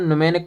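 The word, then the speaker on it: mnemonic: न्यूमेक code कहते हैं एम ये साइलेंट होता है इसे न्यूमेक कोड पढ़ा जाता है कंपाइलर का क्या काम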